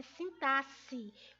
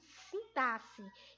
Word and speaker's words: sintaxe: A palavra correta é sintaxe, como se o XE aí fosse a pronúncia de dois S. Então, sintaxe, que é o quê?